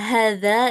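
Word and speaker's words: هذا: Nah, ini untuk hadza H-nya ini sebenarnya ee ini ya panjang ya karena ee kata hadza ini dalam bahasa Arab ha itu pasti panjang. H-nya pasti panjang dibacanya hadza hadzihi haula itu semua ha-nya pasti dibaca dua harakat ya kecuali haula.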